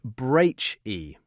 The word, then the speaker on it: breathe: It has a long e sound, like tree, and a vibrating, buzzing th sound, like in the words the or brother.